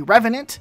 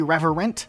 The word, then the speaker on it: Revenant: It's actually a Revenant, not a Reverent.